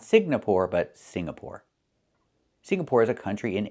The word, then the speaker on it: Singapore: It's Singapore. The NG makes a sound M in your nose. Sing. Like when you sing a song together. Singapore. Not Singapore, but Singapore.